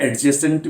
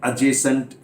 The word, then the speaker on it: adjacent: ठीक ऐसे ही नॉट एडजेसेंट building, it's again अजेसेंट building, ADJACENT, तो ये डी साइलेंट रहता है।